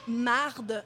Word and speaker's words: marde: la plupart du temps l'on écrit et l'on prononce merde ce que j'appelle une forme majeure il arrive encore d'entendre surtout et parfois de lire marde appelons la forme mineure qualifié par les spécialistes de déformations phonétiques populaires très répandue et donc